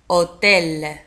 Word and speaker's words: hôtel: Hôtel. لاحظوا على أن hôtel تكتب ب H O. H تنطق O.